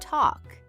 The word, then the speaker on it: talk: Just like the word walk. We don't say walke. We say walk and talk. We say talk.